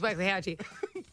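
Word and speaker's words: Waxahatchee: your wax a hatchee now you seen this name and you don't know how to say it I understand it's w Hatchy very vibby female would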